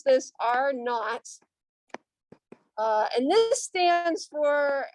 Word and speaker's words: R naught: about something called r naught okay so we pronounce this r naught uh and this stands for uh the reproductive